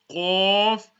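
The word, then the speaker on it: ق: The qaf is pronounced from the top part of the throat.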